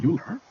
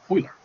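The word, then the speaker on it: Euler: and in honor of his Heritage it's not pronounced uler it's pronounced oer so it's not angelized not everything need to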